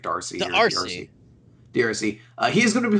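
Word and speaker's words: D'Arcy: pronounce his last name the D apostrophe Arc y I think it's like Darcy DRC he is gonna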